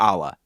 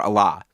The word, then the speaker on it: Allah: Just as a pronunciation note, everybody in the Grateful Dead world seems to have pronounced, and for that matter, sung, the album's name as Blues for Allah, instead of, Blues for Allah.